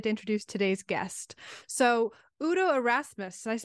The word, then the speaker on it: Udo Erasmus: I'm really excited to introduce today's guest so Udo arasmus I pronounce that correctly yep yep so R Udo